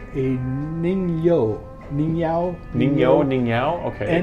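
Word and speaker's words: 人魚: And what it looks a lot like is a Japanese folklore creature called I hope I pronounce this right, a Ningyao. Ningyao, okay. Nigyo.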